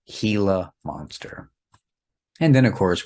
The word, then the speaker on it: Gila: And in that case, we do not say Gila monster. We say Gila monster because in Spanish, the G sometimes has the English H sound, and this would be an example of that.